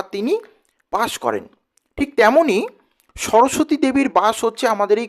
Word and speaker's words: সরস্বতী: তার যে নাম যেই সরস্বতী প্রকৃত উচ্চারণ হচ্ছে সরস্বতী তো আমরা ওইটিকে চলতি ভাষাতে কিন্তু সরস্বতী বলি তো এই সরস্বতী শব্দের